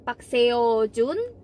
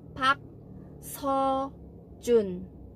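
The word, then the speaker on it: 박서준: Itu kan hak terusnya Hai tapi dibaca bukan park-seo-joon bacanya tapi hak hojoon hak ho-jun seperti nah baca 4 sound ini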